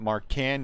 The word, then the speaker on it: Marchand: uh all right marchand jesse tells me it's pronounced march on i heard somebody pronounce it marcan yesterday um and that doesn't seem this just doesn't seem right out of 199.